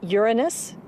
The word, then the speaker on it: Uranus: pronounce the planets name Uranus which is very likely closer to the original pronunciation of the name of the God after who was named